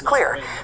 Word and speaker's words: Xlear: It's Clear. That's Xlear, pronounced Clear.